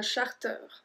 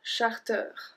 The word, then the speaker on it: charter: Because ER at the end is supposed to make the sound E, but this one we pronounce ER, un charter.